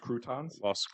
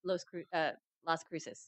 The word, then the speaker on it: Las Cruces: Croutons? Las Cruces. That's how it's Oh. pronounced, right? Las Cruces.